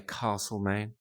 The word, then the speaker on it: Castlemaine: Although, coming from South Australia, I like to say Castlemaine because that's the correct way to say it.